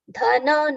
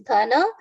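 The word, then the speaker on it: धन: Dhana na should be full, not dhan. It is dhana mana madanvitaha.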